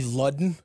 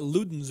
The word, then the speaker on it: Ludden: Probably Ludden. L-U-D-E-N? No, D-D-E-N. Ludden. Yeah, because we got Ludens around Ralph here, of course. Ludden. But... No, it's not a Luden.